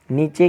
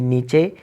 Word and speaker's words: niche: नीचे का स्पेलिंग होते हैं NICHE, नीचे।